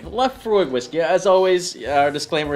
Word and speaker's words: Laphroaig: Yeah, and today we're trying, how do you pronounce this guy? Laphroaig. Laphroaig whiskey.